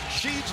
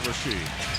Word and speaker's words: Sheed: look kind of awkward sheed's left did look pretty good greg was a little impressed great thing about seed is that everything is only the last syllable it's sheed it's not rasheed it's ships as in